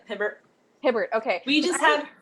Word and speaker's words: Hibbert: pronounce her last name but talia hibbert or is it hip hair that's it hibbert hibbert okay we just